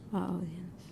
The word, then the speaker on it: audience: How do you pronounce the A-U? O. O-R, yes. Audience.